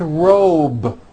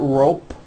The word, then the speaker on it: robe: a voiced B ending same thing with robe also has a voiced B ending it's not rope with an unvoiced P it's robe okay let's go over these